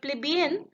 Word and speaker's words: plebeian: If you pay attention to its pronunciation, it sounds like the phrase, "Fleas be in."